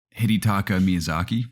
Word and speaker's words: Hidetaka Miyazaki: who know how to pronounce it or correctly pronounce his name i think it's hidetaka miyazaki i always just call him miyazaki reveal that